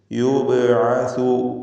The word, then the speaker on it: يبعث: ബഇൻ്റെ സുക്കൂൻ ഖൽഖല സുഗ്റ നൽകി ശബ്ദം ഹറക്കത്ത് പോലെ ചലിപ്പിച്ച് യുബ്അസു എന്ന് വ്യക്തമാക്കി ഉച്ചരിക്കുക.